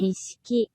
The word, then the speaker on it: Nishiki: Nishiki. Nishiki.